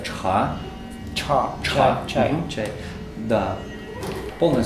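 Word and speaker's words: 茶: Нет, это целый иероглиф, который читается чха.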